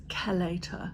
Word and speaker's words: chelator: Um but it's also really good um the proper way to pronounce it is kelator. So, or but it looks like it's spelled chelator.